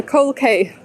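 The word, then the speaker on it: Coal Quay: street the coal k it's actually written as a cold key but for pronunciation the cork accent it's the coral it's the cold kay look at me walking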